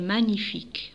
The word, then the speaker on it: magnifique: sa fable trajet est magnifique magnifique on dit pas magnifique magnifique je prononce pas la lettre g magnifique toit d'où elle jusque